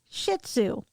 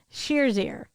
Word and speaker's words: Shih Tzu: h space capital t z u is actually pronounced in the west as shih tzu the chinese say shir's ear weighing between 9 to 16 pounds and standing